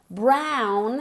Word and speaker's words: brown: Esta O se pronuncia como una A. Brown hair.